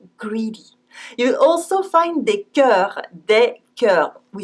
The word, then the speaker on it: cœur: So beware, this strange vowel sign and its pronunciation is E, and it's written O-E. We say E dans l'eau, E dans l'eau. The same as in un œuf, an egg.